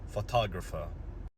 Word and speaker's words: photographer: So in photograph, the stress is on the first part. However, when we add ER and it becomes longer, the stress shifts, so it is photographer.